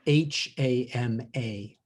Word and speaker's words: Hama: It's a Japanese name, and it's spelled H-A-M-A. Hama.